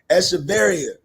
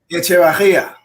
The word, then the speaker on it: Echevarria: We got Eric Echevarria. And I know I said it wrong. How I say the real way? How I say the real way? Echevarria. Hey, Echevarria.